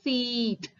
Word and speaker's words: seat: Okay children, on the driver's seat.